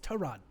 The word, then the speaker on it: Tyrod: Trod Terrod Taylor. Tyrod No, it's Trod.